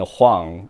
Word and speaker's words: Huang: But as a matter of fact, Wong and Huang are the same last name in Chinese. It's actually just spelled differently, because Cantonese pronounced as Wong, and Mandarin Chinese is Huang.